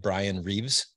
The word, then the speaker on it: Bryan Reeves: and by the way I'm saying it right Brian Reeves yep yeah yeah okay Brian Reeves welcome to